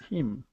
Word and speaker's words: him: Okay, so what you have to focus on is not pronouncing that Spanish I sound, and it really, that I comes from the back of your throat. Okay, and that's how we pronounce that I.